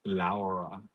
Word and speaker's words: Laura: The Spanish way say Laura. Laura. Yes. I can't roll my R's.